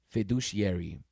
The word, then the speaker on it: fiduciary: Oh, how do you say this word though? Fiduciary. Fiduciary. I want to look it up real quick.